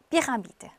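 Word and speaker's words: pyramide: 그래서 Y는 I 발음이 아니고 I라고 그렇게 말하지 않고 뭐 E라고 꼭 얘기하셔야 돼요. 그래서 피라미드.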